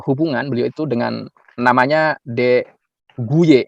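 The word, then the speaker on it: De Goeje: beliau itu dengan namanya De guye ya bacanya huye atau Ya kurang lebih seperti itu ya Jadi ada surat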